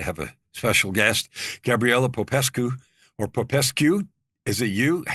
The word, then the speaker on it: Popescu: And I am blessed today to have a special guest, Gabriela Popescu, or Popescu. Is it you? Tell me how to say it, the last part. Popescu.